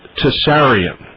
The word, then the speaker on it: Tsarion: Michael and it's pronounced to seryan is that right Michael yeah exactly right the the T is is pronounced everybody it is spelled T